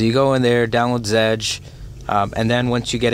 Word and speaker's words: Zedge: That's spelled Z's in Zulu, Echo, Delta, Golf, Echo, Zedge.